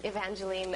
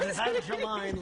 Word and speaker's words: Evangeline: I have to say, I noticed that Evangeline on the prompter is spelled E-E-N to get you to say it right. That's very sweet. Once, years ago, I said Evangeline Lilly.